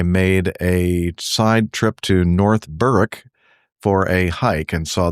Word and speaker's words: North Berwick: While on an EDI overnight, I made a side trip to North Berwick for a hike and saw this caution about burning toasters and refrigerators.